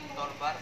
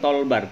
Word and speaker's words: toolbar: Toolbar format. Toolbar ya. Johan bacanya toolbar bukan tolbar.